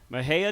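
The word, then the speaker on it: Mexia: back now you are from a place called Maha Texas it's spelled me XI a that is the right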